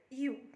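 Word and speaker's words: ewe: ram okay ram and you ram and you okay male and female okay so this e w e is pronounced as u okay just like y o u u in the same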